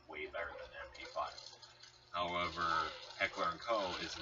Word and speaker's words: Heckler & Koch: And currently, the people who do own the Spectre is Heckler & Co., which Heckler & Co. is the correct pronunciation.